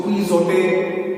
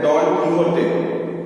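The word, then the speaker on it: Don Quixote: इसको क्विज़ोटे नहीं कहते हैं, इसको कहते हैं डॉन कीहोटे।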